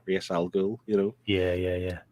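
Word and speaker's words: Ra's al Ghul: a subject people know people pronounce it real and then Raz algo yeah but racial girl may mix it clears day it's Reyes al Ghul you know yeah yeah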